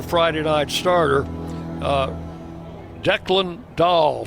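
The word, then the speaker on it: Dahl: Uh Declan Dah spells his last name D A H L pronounced Dah.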